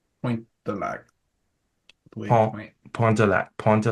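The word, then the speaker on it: Pointe du Lac: Don't pronounce it du Pont de Lac. Pointe de Lac.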